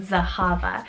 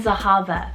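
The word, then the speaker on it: Zehava: with that is the name zahava spelt z-e-h-a-v-a zahava and this one is a hebrew originated name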